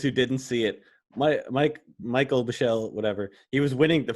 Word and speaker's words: Michel: Is his name Michelle or is it Michael? It's Michel. So I think I've heard both pronunciations.